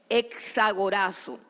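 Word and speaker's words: ἐξαγοράζω: Bueno, fue escrito en griego y el término griego es supremamente interesante porque es un término que se que se lee o se escribe exagorazo.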